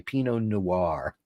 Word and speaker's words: Pinot Noir: I love that Americans say Pinot Noir. Add a syllable.